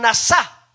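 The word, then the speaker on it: נשא: bueno la palabra perdón viene de una palabrita en hebreo hermanos que se pronuncian nasa y mire nosotros tenemos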